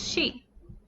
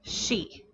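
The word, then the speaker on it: し: our next character is she s h i in romanized characters it is always pronounced with the sh sound the sh sound it is never just pronounced like c it is always she in order to write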